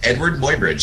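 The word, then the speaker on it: Eadweard Muybridge: Edward Mobyridge is how it's pronounced, but it's spelled all up.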